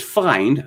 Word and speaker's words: Fynd: create alt meat foods nature's find which for some reason is spelled fynd based in chicago has